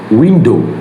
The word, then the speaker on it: window: So the ow in the window is unstressed. So the British speaker makes it very short. That's why we can hear window.